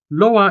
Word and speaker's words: loa: The stress in these examples, bao, to-o, and loa, falls on the lone syllables, o in bao, also o in to-o, and a in loa.